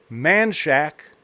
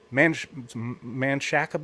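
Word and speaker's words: Manchaca: a town called manchac it is called it is spelled m-a-n-c-h-a-c-a but in Texas fashion uh uh uh Texans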